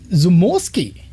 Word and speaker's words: Zamorski: to your left, Jason, we have Zamorski. Did I say it right? Yep, you sure did.